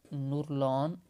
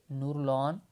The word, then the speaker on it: Nurlan: और अभी जो सेक्रेटरी जनरल है वो है नुरलान, NURLAN, नुरलान यरमेकबेयेव। इसके स्पेलिंग ज़रा देख लें और इसकी प्रोनाउंसिएशन जो है खुद भी देख लीजिएगा।